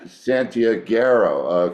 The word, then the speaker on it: Santiaguero: So, Vacilón Santiaguero? Santiaguero. That's right. Santiaguero.